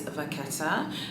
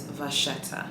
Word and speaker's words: vachetta: The Italian way to say the word is vachetta, and the French way to say it is vachetta. So they're both correct.